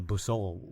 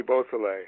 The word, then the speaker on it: Beausoleil: And one of that, I believe it was the, and I'll probably pronounce this wrong again, the Busol wiretap. Oh, Bobby Beausoleil.